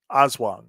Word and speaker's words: Aswang: his match with his new deal with the Aswang or however you say it. Uh, Azwa. Aswang.